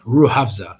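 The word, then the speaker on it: Rooh Afza: would use that, called ruhavza, Rohfaz, just so you guys can pronounce it in your heads, like ruhavza. It could be obviously different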